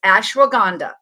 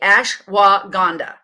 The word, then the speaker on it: ashwagandha: It's ashwagandha. It's spelled ASHWANGHANDA. It has a ASH. Say it one more time. WANDA, like ashwa, and then GHANDA, ashwagandha. And this ashwagandha is a cortisol eliminator.